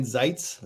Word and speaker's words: Zaitz: viewers your last name yeah it's uh Zees Zees it's all good appreciate that and thanks